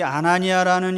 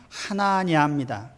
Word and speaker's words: 아나니아: 이 아나니아라는 이름은 헬라식으로 발음한 거고 본래 유대식으로 히브리식으로 발음하면 하나냐입니다.